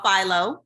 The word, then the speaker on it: Philo: It's called Philo.